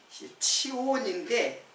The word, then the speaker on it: 시온: 그러면 시온이라는게 뭐 시온 이게 치온인데 발음으로는 치온이에요.이 치온은 예루살렘에 예루살렘의 산이에요.